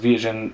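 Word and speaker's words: Viagens: This is pronounced Viagen, you know, he gives a pronunciation, and how, because of the, how you're supposed to pronounce it like a Portuguese.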